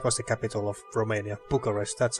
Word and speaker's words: Bucharest: Bucharest yeah that was the capital of Romania Bucharest that's how you say it okay hmm tonight